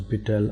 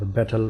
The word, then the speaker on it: betel: The examples of such plants are Ivy, Hedera helix, and Piper betel, also known as betel or betel, whatever you would like to pronounce it, and the long pepper, and also many other climbing plants.